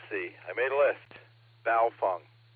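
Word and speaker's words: Baofeng: I made a list baofung it's a baofung it rhymes with cow dung I know it's spelled bowel Fang but Asians will tell you it's pronounced baofan rhymes with cow dung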